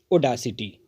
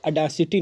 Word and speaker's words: audacity: ओडासिटी, AUDACITY। इसका pronunciation ओडासिटी होता है, अडासिटी नहीं होता। ये लिखा जरूर ए से जाता है बट इसका प्रोनाउंसिएशन जो है वो ओ से होता है, ओडासिटी।